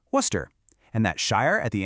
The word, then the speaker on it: Worcester: The big secret here is that you just have to ignore a lot of the letters. Worcester just becomes Worcester.